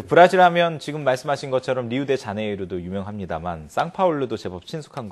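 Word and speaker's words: Rio de Janeiro: 우리가 이제 흔히 이제 리우데자네이루, 이제 1월의 강이라는 그런 뜻인데요. 그 브라질 말로는 그게 R이 이제 히읗 발음이 나가지고 히우지자네이루 이렇게 발음합니다.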